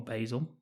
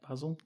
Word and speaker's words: Basil: or Basil. Yeah, Basil? I believe it's the American pronunciation. Basil. Yeah. Basil to us over here.